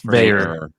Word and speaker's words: Vayer: It's Vayer. Darth Vayer. Like Vader, but Vayer. Vader without the D.